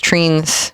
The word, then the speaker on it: trine: I've always read it as trines. I've heard people pronounce it as treens. I think trine sounds better, so I'm going to go with that.